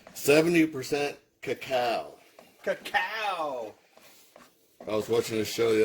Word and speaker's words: cacao: Cacao!